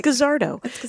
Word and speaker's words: Guzzardo: be my friend how do you pronounce your last name oh dammit I wish I had guessed cuz that's how I would have pronounced it yeah it's a kazar doe yeah that's kazar doe you guys who is